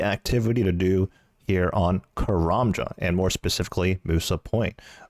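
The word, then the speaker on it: Karamja: could probably guess it, did anyone else mispronounce the name of this island being Kuramja as Karajama? I added an extra A in there somehow.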